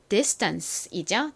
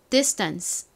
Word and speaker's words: distance: 이 단어를 발음하실 때 유의하셔야 될 점은 S의 바로 뒤에 T가 와서 이 T가 미국식 발음으로는 좀 된소리처럼 발음이 난다라는 부분이었죠. 요것도 한번 발음해 볼까요? distance.